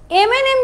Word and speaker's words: M&M: সো M&M যখন আমি pronounce করব তখন কিন্তু আমি এ দিয়ে শুরু করছি, রাইট? আমি কিন্তু একটা ভাওয়েল দিয়ে শুরু করছি, আমি কিন্তু এম এর কনসোনেন্ট সাউন্ডটা ইউজ করছি না, আমি এম বলছি। এখানে যদি জাস্ট ধরো ম্যাঙ্গো, ম্যাঙ্গোতে কিন্তু তুমি ম দিয়ে স্টার্ট করছো, ওয়ার্ডটাই স্টার্ট হচ্ছে এম দিয়ে, সো এটা একটা কনসোনেন্ট সাউন্ড দিচ্ছে। বাট M&M এর প্রোনাউন্সিয়েশনটা কিন্তু এম দিয়ে হচ্ছে, অর্থাৎ এখানে কিন্তু ভাওয়েল সাউন্ড আসছে।